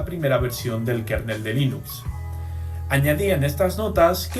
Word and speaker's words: Linux: Escuchemos al propio Linus Torvalds que nos decía: Hello, this is Linus Torvalds and I pronounce Linux as Linux.